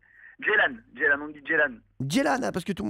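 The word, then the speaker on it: Ceylan: Voilà, on dit Jan parce que c'est d'origine turque.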